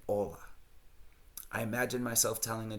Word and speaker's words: hola: He is in his 5th year of studying Spanish and still pronounces the H in hola.